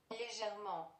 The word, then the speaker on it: légèrement: Google Translate is gonna pronounce it for us. Légèrement.